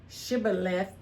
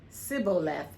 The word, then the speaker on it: Shibboleth: When he said no, they said to him, they say Shibboleth, and he said Sibboleth, for he could not pronounce it right.